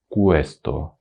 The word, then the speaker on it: questo: очень многие не знают Как произносить на итальянском ку нужно губы делать трубочкой Кусто куэ не просто обычные губы